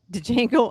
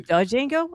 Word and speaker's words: Django: But did you say Django? I meant Django. I'm sorry. Yeah, that's not Django. Dang. I know. Django. The D is silent.